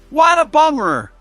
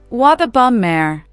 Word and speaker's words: what a bummer: We often say it like what a bummer, blending the words together. It's all about the flow. Try it. What a bummer. What a bummer.